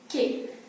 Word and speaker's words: que: as k qu t ke q you in this is pronounced as ke ke then right when you